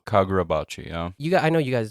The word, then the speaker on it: Kagurabachi: Karubachi? Kagurabachi, yeah.